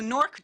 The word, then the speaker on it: NORC: is what we say you know norc does rhyme with dork so we we do try to avoid that and on our website it says we like to go by NOC but it used to